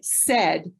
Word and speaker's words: said: So like said. Said sounds like it's S-E-D. It sounds like a CVC word, S-E-D, right? But it isn't. So I'm going to spell it out, S-A-I-D, said.